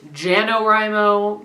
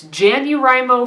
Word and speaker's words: JanuWriMo: I have had some people tell me to pronounce it jano rime oh but that's not happening it's Jan dear I'm o for me and that's what it's staying so